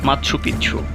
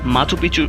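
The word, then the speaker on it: Machu Picchu: কেউ এটিকে সূর্যনগরীও বলেন স্প্যানিশ ভাষায় এই শব্দটির উচ্চারণ করা হয় মাৎসুপিচ্ছু যার অর্থ প্রাচীন চূড়া তবে মাছপিছু উচ্চারণ অধিক প্রচলিত ইতিহাসবিদ্দের গবেষণায় এ শহর সম্পর্কে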